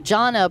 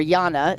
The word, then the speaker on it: Jana: Janna Borgstrom or Jana actually is how you say her name.